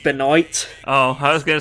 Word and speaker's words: Benoit: universe he'll release me it's pronounced Beloit oh I was gonna